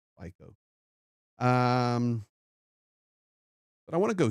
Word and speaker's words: Fico: Slovakia's think it's pronounced FICO.